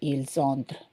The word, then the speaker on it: ils entrent: So remember, there is no pronunciation for these ENT. You just say ils entrent.